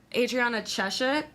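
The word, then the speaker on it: Adriana Chechik: was talking to uh Adriana cheshek is that how you pronounce it yes she's like I've had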